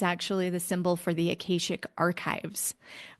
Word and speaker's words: Akashic: This symbol is actually the symbol for the Akashic archives, or some people pronounce it Akashic.